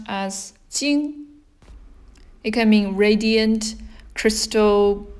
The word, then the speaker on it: 晶: This is pronounced as 晶.